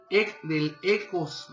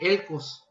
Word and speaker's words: Elcos: Libro de la visión de Nahum, del Ecos, así no se dice, de Elcos.